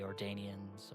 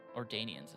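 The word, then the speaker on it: Ordonians: as Link with the Ordanians or yeah, I think Ordanians is the correct way to say it.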